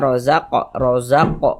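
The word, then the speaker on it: رزق: Ini huruf ro kita baca tebal, kita baca tafkhim karena dia memiliki tanda baca fathah. Ini huruf qaf tadi kita pantulkan ya bacanya rozaq, mantul seperti itu. Ini namanya qalqalah sughra karena dia berada di tengah bacaan seperti ini atau di tengah kalimat begitu. Rozaq mantul ya.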